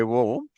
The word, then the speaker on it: Om: Because if you exactly say the Om, you're supposed to say Om. You're starting all the way down from the belly button and it goes out like a Om, like that.